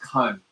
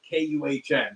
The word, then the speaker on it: Kuhn: I believe it's pronounced Kun. See, that's not even careful now. Careful now. Careful. All right. Well, the last name is spelled Kuhn. So whatever, it's Kuhn or Kun.